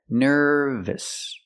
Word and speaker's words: nervous: So remember, adjectives ending in OUS are pronounced with a short sound at the end. Gorgeous, nervous, famous.